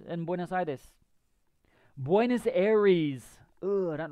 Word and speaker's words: Buenos Aires: Buenos Aires.